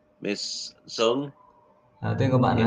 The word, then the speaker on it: Xuân: When I see that name, the X in your name, the first letter of your name is pronounced more like an S. Your name, Xuân, Miss Xuân.